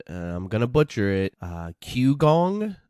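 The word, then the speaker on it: qigong: gonna butcher it uh q gong i believe is how you pronounce it it's q-i-g-o-n-g anyhow that's not important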